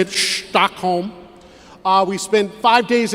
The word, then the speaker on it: Stockholm: That's how they say it, Stockholm.